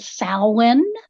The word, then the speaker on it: Samhain: And we actually pronounce that Samhain.